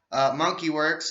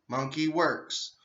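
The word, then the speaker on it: Monkey Werx: Monkey Works, it's spelled Monkey, Monkey Works. It's not WORKS, it is WERX. Monkey Works.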